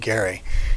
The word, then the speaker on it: Gerry: his name is Garrett last name is pronounced Gary and he was the